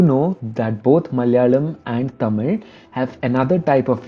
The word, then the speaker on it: Tamil: Another interesting fact is that the last L in the word Tamil is actually R, and therefore it's not Tamil but it's Tamil.